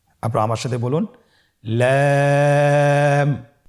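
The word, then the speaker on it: لام: লাম হরফটি উচ্চারণের ক্ষেত্রে অবশ্যই বারিক হবে এবং 3 আলিফ টেনে পড়তে হবে। আপনারা আমার সাথে বলুন লাম। লাম হরফটির মাখরাজ হলো জিহ্বার আগার কিনারা উপরের দাঁতের মাড়ির সঙ্গে লাগিয়ে উচ্চারিত হয়।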